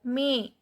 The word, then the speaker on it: mes: Mes. E is pronounced as A because E is followed by S.